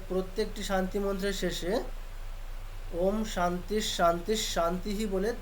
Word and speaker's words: ওম: আচ্ছা, ওম শব্দে মোট কতগুলি অক্ষর আছে কি বলতে পারবেন? 3টি অক্ষর আছে, অ উ ম। এবার আমরা 3টি অক্ষর, এই 3টি অক্ষর কোন কোন অংশ দিয়ে উচ্চারণ করব? অটা করবো নাভির কাছ থেকে, হ্যাঁ, ওটা হৃদয়ে, আর মটা কণ্ঠে। মটা কোথায়? কণ্ঠে বিশুদ্ধ চক্ষে। না, মটা কণ্ঠে না, মটা হচ্ছে ওষ্ঠে, একেবারে, ওষ্ঠে, মটা শিরোশি, ওষ্ঠে।